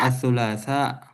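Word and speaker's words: الثلاثاء: Bacanya itu asulasa atau asulasah. Maksudnya berhentinya berhentinya ada hamzahnya gitu, Ustaz. Iya. He asulasa. Asulasa ditekan ya karena ada hamzah.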